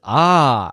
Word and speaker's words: ha: Remember that the H's are silent here.